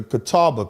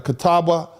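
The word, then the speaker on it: Catawba: The name is spelled C A T A WBA, the Kata the the Kataba people.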